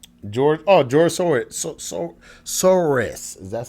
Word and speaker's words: Soros: knows dude um george oh george sword so soros that's how you say it so what is